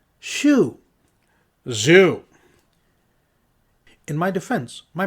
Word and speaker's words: Xiu: So yeah, Zoo. Xiu. Xiu. In my defense, my mouth is the wrong shape to pronounce that, Regarii pointed out.